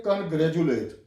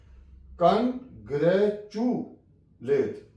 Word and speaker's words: congratulate: देखता था पाकिस्तान में, वो इसको पढ़ जाते थे कॉन्ग्रेजुलेट, लेकिन इसकी सही प्रोनाउंसिएशन मैं आपको बताने लगा हूं, कॉन्ग्रेचुलेट। तो कॉन्ग्रेचुएट लफ्ज होता है, अगर आप इसको कॉन्ग्रेजुएट पढ़ते हैं then it will be wrong.